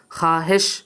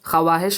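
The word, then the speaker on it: خواہش: খাহেশ, খাওয়াহেশ হবে না, খা হেশ, ওয়াওটা উচ্চারণে আসবে না।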